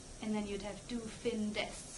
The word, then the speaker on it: findest: then you'd have du findest, so you need the E there again, because du findest, it, again, doesn't sound good, it's hard to pronounce.